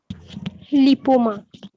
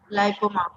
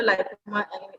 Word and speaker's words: লাইপোমা: লিপোমা। লাইপোমা। লিপোমা না, এটা লাইপোমা, এটা উচ্চারণটা হবে।